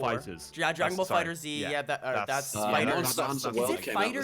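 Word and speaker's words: FighterZ: It's Fighters. I say fighters. Oh, no, I say Fire Z because I'm a fucking scrub.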